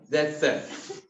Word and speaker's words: Zaitsev: The pronunciation is Zaitsev, ठीक है ना?